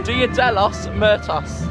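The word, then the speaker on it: Día de los Muertos: Dia de los Muertos.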